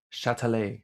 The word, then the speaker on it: Châtelet: at the, oh, you gave me this to pronounce. Theater des Châtelet. Châtelet? Théâtre de Châtelet.